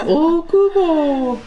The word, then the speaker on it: Okubo: Okubo, that's how they say it on the announcements. Okubo.